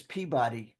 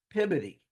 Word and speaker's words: Peabody: I know it says Peabody, but in Massachusetts they pronounce it Peabody. So however you want to